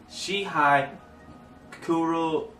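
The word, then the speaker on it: Shihai Kuroiro: To be correct, his name is Shihai Kuryo.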